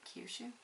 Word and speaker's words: Kyushu: much worse when it comes to trying to pronounce the japanese ones okay autumn in kiyushu i think i think that's it kyushu i know nothing i don't actually know a